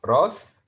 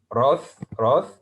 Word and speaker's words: wrath: The wrath in British English, it's wrath. So this word has two pronunciations, British wrath, American wrath, the wrath of Rosa.